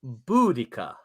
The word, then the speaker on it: Boudicca: oh here we go harrenberg says it's pronounced boudicca thank you i don't